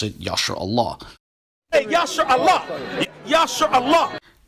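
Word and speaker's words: ישראל: they don't pronounce the relevant word Israel or Yisrael. Rather, they pronounce it Yasher Allah.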